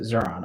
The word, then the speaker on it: Xuron: That's how I pronounce it, Xuron. I don't know if that's actually how it's pronounced or not.